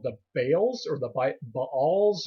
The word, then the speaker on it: Baal: Now they worshipped many different gods, a group of which are called the Baals or the Baals. It's pronounced, people will pronounce it a lot of different ways, but it's spelled B-A'-A-L.